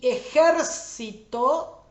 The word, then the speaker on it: ejército: Y ejército va en la última, penúltima, antepenúltima sílaba que está en negrita, es la sílaba tónica.